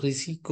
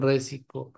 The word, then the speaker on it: risiko: ke dalam bahasa Indonesia itu risiko yang benar bukan resiko kemudian ini contoh lain